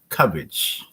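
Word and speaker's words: Cubbage: do you yes well the last name is pronounced cabbage okay so it's c u b b a g e just think of cabbage you know think of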